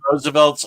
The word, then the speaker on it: RSVLTS: Yeah, that's Roosevelt's RSVLTS. They have a huge selection of Marvel and DC shirts. It's R, it's pronounced Roosevelts.